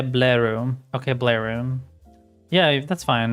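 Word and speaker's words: Blaireau: It's French Blair. Blairu. Blairu. Is that what you mean? Blue air. Is that how you say it? Blue air? Blue air. That's a cute name.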